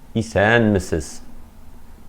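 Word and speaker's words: Исәнмесез: Говорим «салям», «салям», «исан мисис», «исан мисис», «здравствуйте». Ударение падает на первый слог. Одно из тех слов, которые являются исключением.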